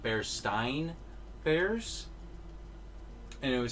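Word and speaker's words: Berenstain: uh bears berestine bears is supposed to be pronounced bear stein bears and it said that's and that who said that's how it was also marketed as i mean but i always heard bear steam i think i never had that mandela effect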